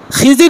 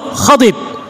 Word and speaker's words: খিজির: করেছেন কিন্তু হযরত খিজির খিজির না শব্দটা খাজির বিশুদ্ধ মত হলো খাদিজির আমাদের সমাজে প্রচলিত মত হলো খিজির কিন্তু তার বিশুদ্ধ উচ্চারণ হলো খাদির যাই হোক খিজির হোক